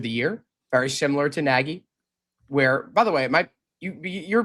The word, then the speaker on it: Nagy: It's pronounced like it rhymes with the name Peggy for a girl. It's Matt Nagy.